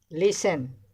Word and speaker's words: listen: Listen, T is silent.